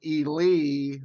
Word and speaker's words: Ely: noise every everything and uh we're with Michael E Lee that's how you pronounce the people from white red wedding the